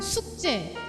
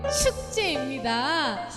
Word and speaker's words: 축제: 이게 발음을 잘 하셔야 돼요. 우리 아까 9시 예배 때 보니까 새 생명 숙제, 홈워크, 숙제로 발음하셨는데 새 생명 뭐라고요? 네, 축제입니다.